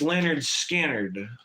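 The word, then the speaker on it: Lynyrd Skynyrd: rock music in general kind of like legendary pronounced Leonard Skard.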